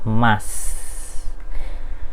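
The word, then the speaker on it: ます: Pokoknya yang kata-kata nih, kosakata yang belakangnya mas atau masu-masu ini untuk hurufnya masu-masu. dibacanya mas ya.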